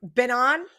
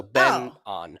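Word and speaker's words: Byeong Hun An: Benon? He pronounces his first name Ben, just like Benjamin. So Ben on. Oh, okay. On. Got it. No. I thought it was Benoit.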